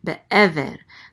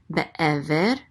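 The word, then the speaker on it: בְּעֵבֶר: Be'ever. The accent mark is on this syllable, so it's be'ever. Be'ever.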